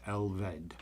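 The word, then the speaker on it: Elfed: But the F is pronounced as a V, so it's Elvd.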